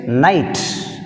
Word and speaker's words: night: Next, night, which is silent, K silent.